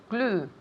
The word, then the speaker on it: glue: Glue. Repeat. Glue. Good, very good. Glue. Glue. Now, notice here, glue, what does it rhyme with? The color blue. It sounds just the same. It rhymes. Glue, blue.